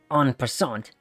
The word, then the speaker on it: en passant: I'm funny enough, I mispronounced what they wrote down there. It's pronounced en passant, and quickly jab Poindexter in the eyes with 2 fingers.